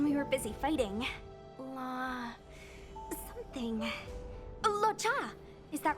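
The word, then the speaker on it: Luocha: Lo-cha! Is that right? I remember it. Lucha. Okay, so the O is silent. I thought it was Lucha, but I guess that would be OU, not UO, right?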